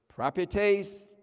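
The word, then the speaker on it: προπετής: a a and so even though you have two e's they're not pronounced the same way um and that is pra tase propietase p-r-o-p-e-t-e-s prime taste the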